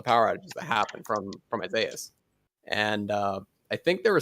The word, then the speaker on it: Isaias: there is after Isaias, I know it's pronounced Isaias, but Isaias is so much easier for me.